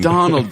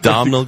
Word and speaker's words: Domhnall: Donald Gleason, not Domhnall Gleeson.